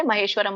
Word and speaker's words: ಮಹೇಶ್ವರಂ: ಮಹೇಶ್ವರಂ ಮಹೇಶ್ವರಂ ಅಂತ ಕರೀತಾರೆ ಮಹೇಶ್ವರಂ ಅಂತ ಹೇಳಿ ಮಕ್ಕೆ ವ್ಯಂಜನ ಇದೆ ಮಹೇಶ್ವರಂ ಸೊ ಸುಹೃದಂ ಹ ಕ್ಕೆ